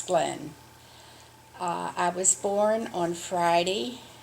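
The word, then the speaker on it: Gleen: which to me is glean but i for some other reason they always pronounced it as glenn i was born on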